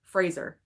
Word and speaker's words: Fraser: to say it correctly Brennan Frasier like Razer Fraser Fraser won the Oscar I